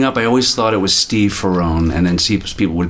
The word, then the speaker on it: Ferrone: Anyways, you know, if I if somebody asks me what my name is and I say Steve Ferrron, they say what? If I say Steve Ferrroni, they get it right away. Yeah. In proper Italians, Ferrron. Yeah. So I say Ferrroni.